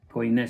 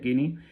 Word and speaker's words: koiné: griego koiné o kini, koiné se escribe y por lo visto se pronuncia kini, este griego kini nos